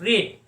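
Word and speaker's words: read: तो दोस्तों, रीड का थर्ड फॉर्म क्या है, रीड, रेड। स्पेलिंग सेम रहता है, लेकिन सेकंड फॉर्म और थर्ड फॉर्म को हम लोग प्रोनाउंस कैसे करते हैं, रेड।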